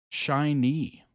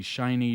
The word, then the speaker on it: SHINee: so this looks like it is shiny is how it's pronounced I think yeah I